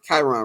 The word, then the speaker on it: Kyron: we got the homie karon I want to pronounce his name wrong Chiron right right yeah everybody call me my